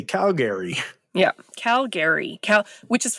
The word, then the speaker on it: Calgary: weir is um pronunciation say Calgary for me Calgary Calgary Calgary c a LG r y is how we say it Calgary Calgary um you